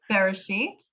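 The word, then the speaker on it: בראשית: I'm sorry, I probably pronounced that wrong. Bereshit.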